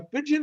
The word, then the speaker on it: pidgin: people speak one is called the pidgin english they spell it as pid gin a pigeon english you will understand everything